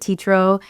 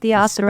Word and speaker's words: Teatro: And everybody will pronounce it teatro, and I'm used to it, but I'll let them know kindly, like, oh, so it's actually pronounced teatro. Spanish. It's pronounced as Spanish.